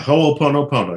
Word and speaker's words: Ho'oponopono: In your book, Zero Limits, you discuss this, the ancient Hawaiian practice of, is it Ho'oponopono? Yeah, Ho'oponopono. You just pronounce every syllable.